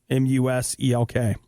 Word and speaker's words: Muselk: And someone is correcting me on my pronunciation. Where did they go? Muselk. Okay. So Muselk.